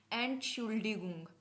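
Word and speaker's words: Entschuldigung: को क्या बोलोगे आप एंट शुल्ड गुंग ए एंट शुल्ड गुंग अगर एक बार में नहीं समझ आता तो तोड़ के पढ़ने की कोशिश करो एंट शुल डी गुंग एंट शुल्ड गुंग को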